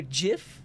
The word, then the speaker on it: GIF: done Linux now do Jiff with a soft G also like the GIF